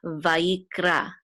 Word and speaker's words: Vayikra: So it's yik, vayik, and this is a resh with a kamatz, and this aleph together will say ra, vayikra, vayikra, which means, and he called.